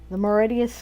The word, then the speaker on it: Mauritius: it kept making references to this book, the Mauritius Command, I guess, is how it's pronounced, Mauritius, but Mauritius.